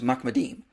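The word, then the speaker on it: מחמדים: The way you pronounce this word is Mahmed. And this passage is plural, so it's Mahmedim.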